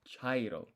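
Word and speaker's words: 茶色: So you have hairo and you have chairo. Chairo sounds like chai, like the beginning of that word. And chai is a type of tea. It's brown.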